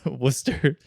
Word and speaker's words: Worcester: to pronounce that c like you wouldn't Worster I feel like I've heard that abbreviation before too but like I don't know how you do that you don't do that if it's the beginning of a word I want to what are you talking about like Worcester how it's not spelled wer yeah okay ioun